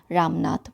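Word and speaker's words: Ramnath: हो जाएगा यहां पे लेकिन प्रोनाउंस हम इसको कैसे करेंगे रामनाथ बोलके प्रोनाउंस करेंगे ठीक है तो स्टार्ट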